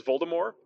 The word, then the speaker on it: Voldemort: pronounced pronounced not announced apparently that's the intended pronunciation is Volta more which i think is a little sexier I